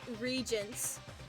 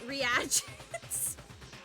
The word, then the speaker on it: reagents: When I first read that word, Emma, I read it as regents. And I was like, that doesn't seem right. Is it reagents? Did you pronounce it as regents?